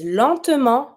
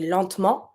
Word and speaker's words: lentement: accent, so we say lentement, but you have to pronounce it a little bit. Lentement or lentement. It's up to you. Just know that you're not going to pronounce the T at the end.